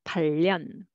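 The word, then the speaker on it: 팔년: However, in sentence reading, people often read and sounds like one word, 8년, And so they will read together and pronounce 발련, 발련. Okay, instead of the r sound.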